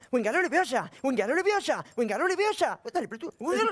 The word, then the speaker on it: Leviosa: ¡Wingalo leviosa! ¡Dale, pero tú! ¡Wingalo leviosa! ¡Espera! ¡Espera que le vas a romper los ojos a alguien! No se dice esperando leviosa, se dice leviosa, leviosa, leviosa.